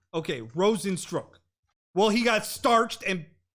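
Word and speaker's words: Rozenstruik: tonight UFC Fight Night saturday folks we got pronounced rosin stroke okay rosin stroke well he got starched and it look like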